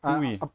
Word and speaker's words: buoy: But yeah, buoy. All right, buoy. It's pronounced buoy.